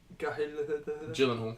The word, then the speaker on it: Gyllenhaal: Is it Jake Gyllenhaal.